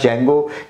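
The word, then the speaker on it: Django: market में है date इसे जागो दी साइलेंट है यहां पे इसे आप जैंगो भी क्या सकते हैं जैंगो भी का सकते हैं जैसा आपको ठीक लगे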